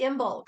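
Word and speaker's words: Imbolc: is just full bloom even though it's only imbulk which means that's how you pronounce i-n-b-o-l-i-c this is the heart of Winter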